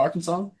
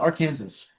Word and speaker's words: Arkansas: Well, I said Arkansas, didn't you know that No. I don't know why it's not pronounced R Kansas.